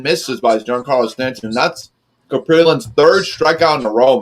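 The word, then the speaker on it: Kaprielian: That's how you say it, Caprillan.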